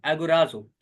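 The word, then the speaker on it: ἀγοράζω: उसे कहा जाता है एगोराजो। आप इसकी प्रोनाउंसिएशन जो है वो यूट्यूब पे भी देख सकते हैं, वो इस तरह से है, एगोराजो।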